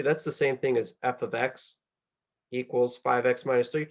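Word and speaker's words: f(x): in function notation or F parentheses x but that's not how we say that that is pronounced or how we say it in math is it's f of x so if you see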